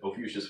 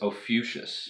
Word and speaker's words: Ophiuchus: So it's Ophiuchus. Ophiuchus. We I pronounce it incorrectly. Gotcha. The correct pronunciation would be closer to like Ophiuchus or something.